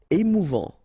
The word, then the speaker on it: émouvant: Émouvant. Final T not pronounced. A-N together. En.